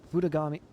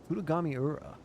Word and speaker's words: Futami: washed up in Futami Fut Futagami. Wait, Futugami Futami. Have I been saying it wrong this whole time? Oh, of course I have.